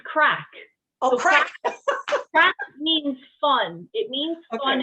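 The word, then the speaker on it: craic: spelled a spell if you're first before i pronounce it is c-r-a-i-c and it's it's what do you think it was okay it's crack means fun it means fun in the irish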